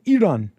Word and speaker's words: Iran: The I is pronounced like The The I is pronounced like an E in Iraq. And Iran and Iraq. Ear Eeron Eerock Sorry.